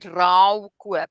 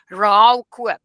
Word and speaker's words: rouwkoop: And you call that in the Afrikaans, Romeins, Hollandse reg, you call that rouwkoop. I'm going to spell it to you. RAUW, rouwkoop. Now in this specific agreement, it's also a ruilkoop.